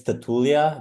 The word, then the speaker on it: Tatulea: Uh, so in Romanian it's Tatulia, but we like in English Tatulia.